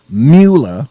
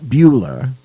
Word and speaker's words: Mueller: Well, as you know from yesterday, Bob Mueller, not Mueller, Mueller is pronounced Mueller, okay, not Bueller, decided that he, on his own, was going